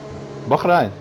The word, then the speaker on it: Bahrain: No, I say it at the way they pronounce it over there. You say it in the English way. I say it in the native tongue of the sheiks who live over there.